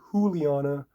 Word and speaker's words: Juliana: we have Juliana Avila or Juliana if she's Brazilian and it's probably pronounced the J is probably silent and pronounced with an H all right you guys